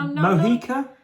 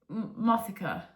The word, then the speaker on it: Mothica: Mohica? Mothica. Yeah, but Mohican, isn't it spelled like? No. Okay. There's a TH in it.